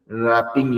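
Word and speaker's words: wrap: बट आप लोग कुछ सेंटेंस सुनाइए with the idiom रैपिंग your head around. रैप होता है डब्ल्यू और ए पी रैप W silent है।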